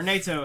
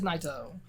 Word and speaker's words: Naito: G1 we have tetsuya naito my or NATO however you want to pronounce it because English is hard it is naito my favorite my number